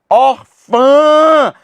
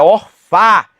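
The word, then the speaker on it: órfã: Orfã. Ã ã. Por isso, meu amigo, minha amiga, a pronúncia que é nasalizada não é orfá, é orfã.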